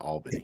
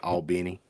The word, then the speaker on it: Albany: That's how you say it. It's not Albany. It's Albany.